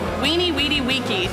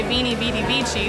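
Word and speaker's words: veni, vidi, vici: The headline to the story of my life would be Weenie Weedy Weeky, which is the correct Latin pronunciation. Some people say Veni Vidi Vici, but I came, I saw, I conquered.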